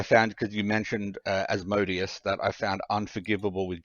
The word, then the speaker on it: Asmodeus: because you mentioned uh as modius that i found unforgivable with jordan is he pronounces it as madeas and every time he said it i just it was like nails on a chalkboard man you say you